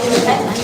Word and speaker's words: وَالْفَتْحُ: Also, you said إِذَا جَاءَ نَصْرُ اللَّهِ وَالْفَتْحُ. When you said fetch, you kind of said fetch. You didn't quite like pronounce the ha properly.